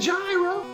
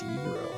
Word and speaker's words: gyro: gyro. Really? Video game? Although it's technically pronounced Euro.